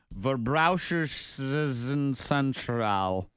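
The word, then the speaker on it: Verbraucherzentrale: It's the Hamburg, Germany Consumer Protection Center, which is pronounced Verbraucherzentral.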